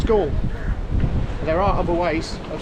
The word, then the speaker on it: Galle: Apparently, I've asked the locals and uh the English pronunciation of it is Gore.